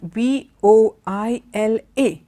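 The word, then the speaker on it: voilà: voila and it's got v/o i la it's just the same way as you say wow and only the French word for that is voila okay so that's how that word is pronounced so these are all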